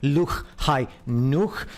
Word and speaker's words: Lahaina: Lahaina, which is pronounced Luch Hai Nuch.